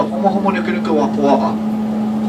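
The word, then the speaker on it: humuhumunukunukuāpuaʻa: So for those of you that don't know how to say it, I'll teach you how to say it. It's the homo homo nuku nuku wapua'a.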